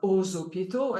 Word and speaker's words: aux hôpitaux: The X is pronounced like a Z, like aux hôpitaux, and it goes on.